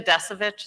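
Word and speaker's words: Descovich: Is it Tina Desovich?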